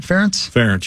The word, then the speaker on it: Ferentz: Ferentz, yeah.